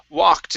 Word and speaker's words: walked: through okay good uh this word here is walked instead of w it's walked end with the T walked we walked okay